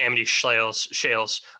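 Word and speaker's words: Amity Shlaes: But one of the things, when I listened to, I think her name's pronounced Amity Shales, her book about the Great Depression, I wish I knew it off.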